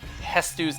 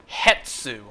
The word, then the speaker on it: Hestu: how I possibly read Hestu's name wrong when I first played the game. I thought the T and the S were opposite spots. So at first I read his name as Hetsu.